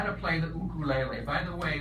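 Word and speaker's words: ukulele: how to play the cuckoo lai lai by the way we pronounce it that way because in Hawaii they say oh cool a lei as opposed to you later now I can count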